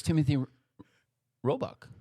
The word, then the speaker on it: Robichaux: Can you pronounce that for me? Timothy Robichaux? Oh, it's Timothy Roebuck.